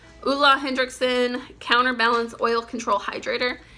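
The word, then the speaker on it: Ole: bees this is the a lot of people pronounce that's Olay it's actually ulah ulah Hendrickson counterbalance oil control hydrator I have a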